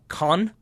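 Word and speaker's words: Caen: in a three-nil win over kaan I believe it's how you're supposed to pronounce it we had this debate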